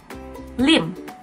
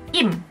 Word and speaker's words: Lim: Lim. Di Korea nggak ada yang marganya Lim. Adanya Im.